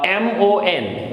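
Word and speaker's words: mon: So the example is M-O-N. So how it will be pronounced? Mo. O-N is O, so mo.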